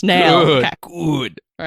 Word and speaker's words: Nale: Yes, I've given up on Nale, all right? You win. It's Nail.